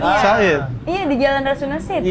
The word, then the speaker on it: Said: Said. Iya. Di jalan Rasun Saidid. Iya. Said bacanya. Said. Oh Said ya. Said bukan. Tapi Said bahasa Inggris berkata.